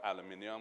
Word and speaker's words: aluminium: It's then sold, smelted into aluminum or aluminium, whichever pronunciation you prefer.